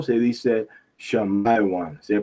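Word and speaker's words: שמעון: Esos son la tribu no dice Simón o Simeón, dice Shamiwan. Shamiwan o se dice Shamaiwan. Se pronuncia así.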